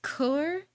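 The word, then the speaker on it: cœur: It's pronounced coeur. I don't speak French. I know how it's pronounced.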